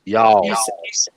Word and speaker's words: y'all: It's not hard done. It's one syllable. Y'all.